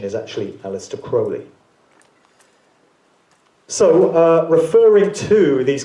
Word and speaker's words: Crowley: Incidentally, Crowley would appear to be the correct pronunciation of his name. A lot of people pronounce it Crowley as I did for many years, but u